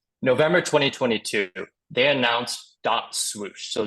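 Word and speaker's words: .SWOOSH: 2022 they announced dot swoosh so this is pronounced whoosh there's a DOT or a period Then swoosh all capitalize I'm not yelling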